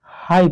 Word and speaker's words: high: देखिए HIGH, इसको क्या पढ़ते हैं, हाई पढ़ते हैं।